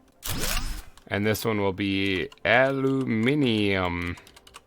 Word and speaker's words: aluminium: And this one will be aluminium, which I believe is the correct way to say it, the English way. And this thing is going to demand aluminum.